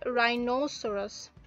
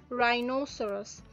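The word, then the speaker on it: rhinoceros: গন্ডারকে ইংলিশে বলা হয় রাইনোসোরাস, রাইনোসোরাস। এখানে এইচটা কিন্তু উচ্চারণ হচ্ছে না এবং অনেক সময় শর্টকাটে বিশেষ করে নেটিভ স্পিকাররা রাইনো বলে।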